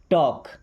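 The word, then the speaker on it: talk: टॉक, यहाँ पे L silent है।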